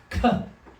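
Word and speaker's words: כּ: But when it does carry the dagesh, it sounds like k, as in kick or king.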